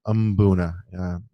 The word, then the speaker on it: mbuna: tonight we're gonna discuss mbuna or as aptly named by the native people um buna with a with a you it's a silent I've met so many people who don't necessarily know how it's pronounced and they feel awkward saying it so just imagine a you before it and it'll make your life easier are the most common and